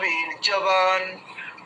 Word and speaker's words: বীর্যবান: develop হয়ে গেছে উচ্চারণে শুধু ওই ওখানে বিরিয়বান হবে ওটা অন্তর্জ হবে না বুঝেছেন আমি এগুলোতে সেই বিন্দিগুলো লাগাইনি আর কি এটা বিরিয়বান একবার বলুন বিরিয়বান কোথাও অন্তরজগনে কেউ নেই